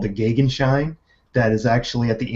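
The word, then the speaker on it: Gegenschein: related is called the Gaghan shine that is actually at the anti-solar point and I check the pronunciation of that two or three sites agree that the german pronunciation is the gig and shine so for people tell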